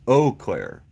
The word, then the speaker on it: Eau Claire: to king texas wow claire's pronounced eau claire it means clear water french really okay eau claire